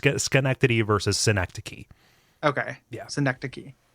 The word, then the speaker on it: Schenectady: But Gary, I need to talk to you about the way you pronounce that word. Oh, what are you saying? Synecdoche, like the literary device. Schenectady. Well, which one's the city then? Schenectady.